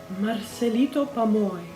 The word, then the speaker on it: Marcelito Pomoy: Now I know it is Marcelito Pomoy.